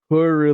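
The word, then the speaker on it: Purrely: going to try to do my best okay pery pily is how it's pronounced perly Peril if this card is normal summoned normal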